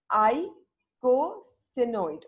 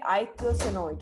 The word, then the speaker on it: eicosanoid: all about okay so this is pronounced as I go see note ok eicosanoid okay and what are